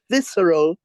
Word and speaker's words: visceral: it's not just a VI how do you pronounce the word v i s c r a l visceral thank you it's not you know it's one